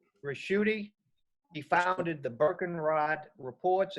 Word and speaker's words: Ricchiuti: uh our speaker today is professor it's pronounced rashudi he founded the birkenrod reports and investment research